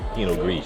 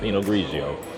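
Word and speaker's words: Pinot Gris: by penog gre and I mean literally that's how it's pronounced in some country penog gre it's not penog grigio penog grease sometimes I act a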